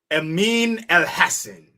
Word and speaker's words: Amin Elhassan: Amin Elhassen.